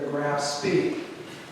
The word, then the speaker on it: Graf Spee: And she played the Graf Spee, which is the proper German pronunciation.